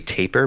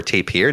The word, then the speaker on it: tapir: Now, have any of you ever heard of a tapir before, or tapir, depending how you want to pronounce it?